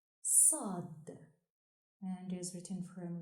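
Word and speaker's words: صاد: The 14th letter is pronounced Sad and is written from right to left on the line. Sad, like in sorrow.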